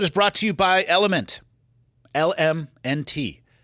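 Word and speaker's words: LMNT: Like it was demanding, but it was also Today's episode is brought to you by Element. LM NT. It's okay to say it either way. It's pronounced Element.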